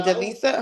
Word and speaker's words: Jalisa: Honestly, how do you say Jisa? Hello. Yes, it's Jalisa.